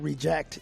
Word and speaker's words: reject: They were like, if there's a word that can be used as a verb and a noun, that the verb is always the accent's on the second half and the accent is on the first half for the noun.